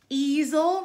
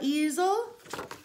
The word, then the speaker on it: easel: And easel rhymes with weasel, easel.